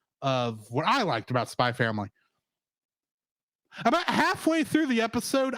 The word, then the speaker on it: Spy x Family: Spy Family. The X is silent.